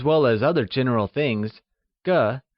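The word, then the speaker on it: 个: Used for people as well as other general things, ge, spoken with a neutral tone, is one of the most important measure words in Mandarin.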